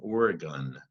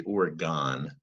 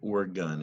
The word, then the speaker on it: Oregon: look at origin and Oregon it looks like it should say Oregon but the state of Oregon is pronounced as if the word gun is at the end so there's so they're